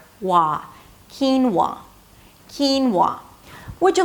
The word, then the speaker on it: quinoa: Not qui-noah, keen-wah. Two syllables, the first one, is /k/ sound, and than a high 'ee', 'keen', ended it with an /n/, that's the primary stress. And then it's a /w/ sound - 'whoa', and the /ah/ as in "father" - 'wah'.